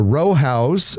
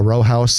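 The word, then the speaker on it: Rowhaus: Leavenworth is the the row house Elmwood Park Row House Elmwood Park Row House spelled Rojas r-o-w-h-a-u-s a little bit of a German word there those those are some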